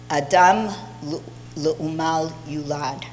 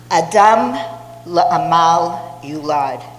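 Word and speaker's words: אדם לעמל יולד: Rabbi Aaron Lichtenstein, his rabbi at Yeshivat Har Etzion, taught Adam l'umal yulad, la'amal yulad. Let me say that again, because my husband would kill me for saying it wrong. Adam la'amal yulad.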